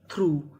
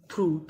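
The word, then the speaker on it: through: आर यू जी एच थ्रू थ्रू थ्रू का मतलब होता है में से यानी यहां पे हमें यूजी एच का उच्चारण नहीं करना बाकी सब जगह उच्चारण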